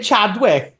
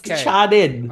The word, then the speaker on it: Channing: do I say say Chadwick Chadwick Tatum yeah it's Channon Channon okay he it's not Chadwick it's Channing okay Channing Channing Channing Channing I need to channel the Channing you know who I